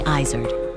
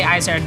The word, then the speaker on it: Izard: bold, and adventurous Stephanie Izard. All of the goat restaurants started with my last name, which I say Izard, but in French it's Izard, which is a mountain goat that lives in the Pyrenees Mountains.